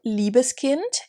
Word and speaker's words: Liebeskind: shout out to lori the brand is called liebeskind and liebeskind is a brand from berlin berlin